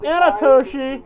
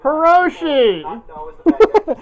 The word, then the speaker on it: Hiroshi: scooby-doo and it's oh she is Hiroshi not Nana Toshi Hiroshi I think he said Karoshi I heard Anna Toshi whatever you got the name wrong it's Hiroshi Hiroshi Sato right that's the